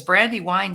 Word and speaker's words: Brandi Wyne: if it's Brandy win or brandy wine because Brandy Wine sounds really good together so good morning Brandy